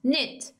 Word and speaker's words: knit: pin collarbone has knit knit k is silent knit buff time we have